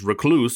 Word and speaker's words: Reclvse: And yes, that's a V right there, but I'm going to pronounce it as Reclvse throughout this whole video.